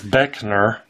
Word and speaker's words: Beckner: Derrick Beck Beck so I think I said his name wrong on the the other video but it's beckoner and d DG b is